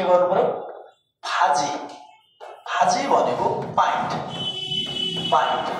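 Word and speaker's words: 바지: जस्तै ब शब्दको सुरुमा आउदा फ उच्चारण जस्तै फाजीत यो के त बाजी बाजी अब यहाँ के भजी यो बाजी भन्ने उच्चारण नगरेर यसलाई चा चै के गर्नु पर्यो फाजी है फाजी भनेको पाइन्ट फाजी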